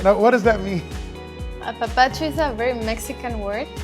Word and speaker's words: Apapacho: Did I say it right? Yeah, you said it right. Now, what does that mean? Apapacho is a very Mexican word, Okay.